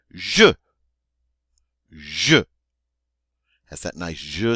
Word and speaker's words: je: All right, in English we would say I, but in French we say je.